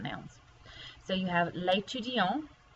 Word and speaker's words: l'étudiant: And this one, because it does not have an E on the end, you don't pronounce that T.